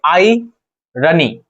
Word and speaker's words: irony: जो ये आई देख रहे हैं ना, वाई ई आई, आई। ठीक है, आप ये पढ़ेंगे आई रनी, आई रनी, आई रनी।